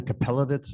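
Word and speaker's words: Kapelovitz: yeah my name is capit rhymes with the hell ofit case you can't pronounce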